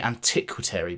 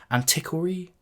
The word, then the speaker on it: Antiquary: is gonna be bad i always want to say antiquity but that's obviously wrong there's no second tea in there antiquary antiquary something like that whatever and this is